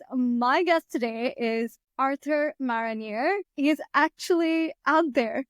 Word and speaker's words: Marronier: And if our listeners want to learn a little bit of French, so my name in French is pronounced Marronier. It's spelled the exact same way as the tree, even though the spelling throughout time.